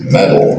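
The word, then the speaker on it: MoEDAL: to pronounce it tobly it's metal it's not modal or model or something like that it's metal the O is not pronounced anyway so that's what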